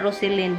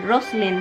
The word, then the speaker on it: Roseline: hi Roseline Ros not Roseline rosin right H not Roseline yeah it's supposedly be rosin that's how you pronounce and also shout out